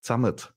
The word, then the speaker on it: Zamat: To the name, it's actually pronounced Zamat, which is a German Bavarian way of saying together.